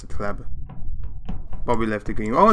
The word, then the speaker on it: C.Hleb: This is how you pronounce it, C.Hleb.